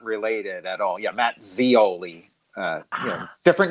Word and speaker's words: Scioli: Scioli. Scioli. Yeah. So the I is silent.